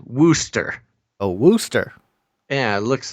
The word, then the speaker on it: Worcester: I do have to say, Gons, the overwhelming message I'm getting from the chat is that it's pronounced Wooster.